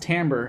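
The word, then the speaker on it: timbre: than a timekeeping thing tamber does anyone know has anyone ever seen this word before it looks like Timber but it's pronounced tamber and you can uh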